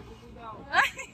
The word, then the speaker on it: Cúcuta: ¿De Cúcuta? De Cúcuta, sí. Pero así es a pronunciar, mano, de Cúcuta.